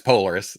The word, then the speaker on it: Polaris: Is it Polaris? Yeah, it's Polaris.